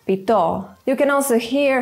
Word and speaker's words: pito: Stress can change the meaning of a word. Consider baka and baka, or pito and pito.